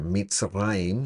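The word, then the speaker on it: מצרים: Eh, se pronuncia Mitzrayim, y ahí está el plural, ¿verdad? De Matzer, Mitzrayim.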